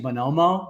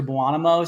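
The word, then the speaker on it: Buonomo: So it's actually Bonomo, which means good man in Italian, but somehow over the years it's turned into Buonamo.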